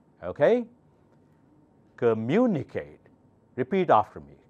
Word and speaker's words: communicate: take few more examples this one has many parts cur mu knee Kate mu should be pronounced louder because the accent mark is on mu okay communicate repeat after me communicate communicate communicate now faster